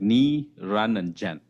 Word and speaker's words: Niranjan: Niranjan. Uh the way my wife introduces to her family is like Ni, Ran and Jen. So if you come across that's how I pronounce my name.